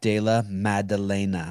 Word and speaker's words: Della Maddalena: listen guys listen listen people listen it's jack dala madalena i'm going to spell it for you jack you know jack and